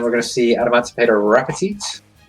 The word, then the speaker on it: Raptite: Yeah, and then we're going to see Adamantipator Rapetite. Or Raptite. I think it's Rapetite.